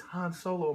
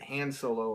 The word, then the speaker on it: Han Solo: sleep so it's it's Han Solo man Han Solo you know there are people that are very picky about that I think I once pronounced it hand solo and somebody got really offended really yeah we are